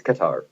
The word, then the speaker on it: Qatar: It's Qatar. Qatar? Okay. In English, it's pronounced Qatar.